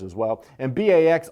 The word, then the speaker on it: Bax: letters as well and Bax also rhymes with acts so Bax is giving